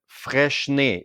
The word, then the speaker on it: Freixenet: a clothes brand, just like Patagonia, or even Freixenet. That's the right way to pronounce it.